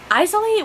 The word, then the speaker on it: Isley: That is how it is pronounced by the author. I literally have a thing of like, so many people are wondering how to say the last name, and it's Isley, which is not how I've been pronouncing it before, and I feel bad.